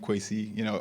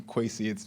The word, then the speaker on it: Kwesi: dream with somebody named Kwesi?" I had to say so people call me Kwesi. It's pronounced differently, in where my family's from.